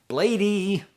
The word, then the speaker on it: Bladee: the album Spiderr by Bladee. I know, it's pronounced Blade, it's pronounced Spiderr. I'm a goofball.